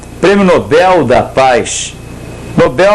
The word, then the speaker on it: Nobel: Nobel, oxítono em L, não tem porque acentuar.